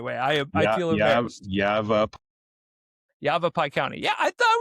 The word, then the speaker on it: Yavapai: Also, how do you pronounce that county the right way? I feel embarrassed. Yavapai County.